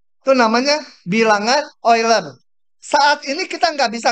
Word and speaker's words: Euler: Namanya bilangan simbolnya E, namanya bilangan E ular. E ular. Bacanya Euler ya.